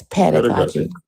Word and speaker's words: pedagogy: What did I mispronounce? Epistemology? Pedagogy. And, It's pedagogy.